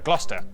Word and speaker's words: Gloucester: through a couple of basics sester is pronounced stir leicester worcester gloucester w sa simula ng